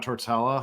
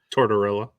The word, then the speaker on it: Tortorella: always nervous with John tortella how tortella is that how you say it torella Tortorella tortella I knew was Tor tortilla I was